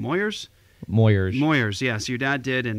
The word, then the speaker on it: Moyers: how do i say his name moyers moyers moyers yes your dad did in 1988 with uh